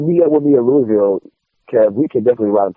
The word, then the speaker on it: Louisville: Is that how you pronounce it? Louisville? Louisville, yeah.